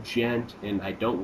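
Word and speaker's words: djent: that's why it's called gent. D-J-E-N-T, and the D is silent.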